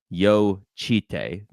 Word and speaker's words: Jocytė: So Zena said it's pronounced Yuste Veronica Yo Chite. So yeah, I said it right. Like yo instead of like any type of J in the last name, it's like yo. And Mm-hmm. then chi, like a cheetah, chi, and then tay, like Taylor.